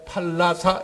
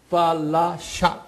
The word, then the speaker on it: 팔라샤: 팔라사 팔라사 여기 팔라사 제가 팔라사 이렇게도 하지만 정확하게는 발음이 팔라샤 SH 이렇게 부르거든요요 뜻은 뭐냐면요 라샤라 뜻은